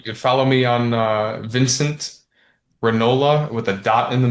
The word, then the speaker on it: Ranola: You could follow me on Vincent Ranola with a dot in the middle, and that's the last name is spelled like granola, but with no G.